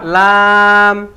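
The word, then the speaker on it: ل: দরি আট নাম্বার মাখরাজ আট নাম্বার মাখরাজ জিহ্বার আগার কিনারা জিহ্বার আগার কিনারা সামনের উপরের একপাশের দাঁতের গোড়ার সঙ্গে লাগাইয়া সামনের উপরের একপাশের দাঁতের গোড়ার সঙ্গে লাগাইয়া লাম লাম লাম লাম লাম লাম ওকে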